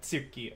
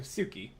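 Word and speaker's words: つき: The T that is slightly pronounced, yeah, like Tsuki, as opposed to Suki. It's very similar, but not the same.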